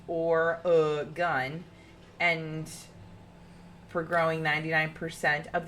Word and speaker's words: Oregon: lake other unusual facts Oregon is known for being pronounced or uh gun and for growing 99%